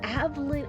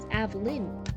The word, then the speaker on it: Alyn: Oh, I've been pronouncing it as Avlyn. Oh, okay. So, I just was I was completely butchering it. Alyn.